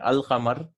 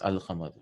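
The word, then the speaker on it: الْقَمَرُ: And Al-Qamar, this is Al-Qamar. The letter Lam is pronounced in this.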